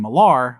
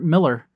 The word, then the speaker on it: Millar: Uh I believe in earlier episodes when we started promoting this, I was saying Malar, which is what I have always said. Yep. But we we just found out it's Miller.